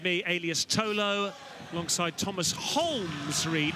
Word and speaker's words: Holmes: Thomas alongside me, alias Tolo, alongside Thomas Holmes Reed. Not Holmes, don't call him Holmes, something like that, likes the L to be pronounced, known as.